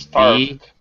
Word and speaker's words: starved: Starved. Very good. Better. V. Yeah, V is a voice sound. Starved. Not ed. Not starved. Starved.